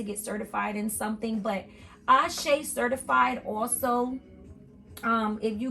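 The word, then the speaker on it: Àṣẹ: saw um it's called Ace the way that it's spelled is ashay certified it's a-s-e as ashay but it's actually a certified so I don't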